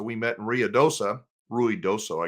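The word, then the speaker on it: Ruidoso: met in RI DOA Ru doso I guess is the real way you pronounce it we met ruy doso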